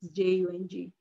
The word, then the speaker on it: Jung: I think it's pronounced Jung, Jung.